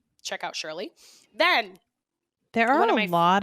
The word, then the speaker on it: Surely: try other flavors but it's shirley and i mean as it surely as it's spelled sounds s-u-r-e-l-y it's surely not alcoholic wine um so